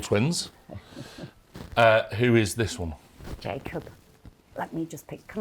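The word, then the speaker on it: Jakub: It's spelt that way, but he pronounces his name Jacob, which is just gorgeous.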